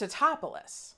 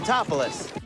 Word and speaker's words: Tatopoulos: his name it's funny dr. Nicholas it's Tatopoulos it's a topless it's Tatopoulos we're introduced to his